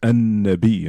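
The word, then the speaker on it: النبي: And nun is one of those letters where if it comes after the lam in al, you don't pronounce the lam. The lam goes silent and it becomes an-nabi, and the nun gets doubled.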